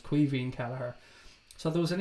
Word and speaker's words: Caoimhín: way, for any non-Irish people, is how you pronounce the young guy's name. It's Caoimhín, which is Irish for Kevin. So it's basically Kevin Kelleher, but it's Caoimhín Kelleher.